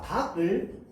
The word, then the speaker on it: 닭: 자, 닭을 닭이라고 발음합니다. 닭. 기역 받침으로 발음하죠. 달이라고 발음하는 사람 있어요? 없습니다. 맞죠?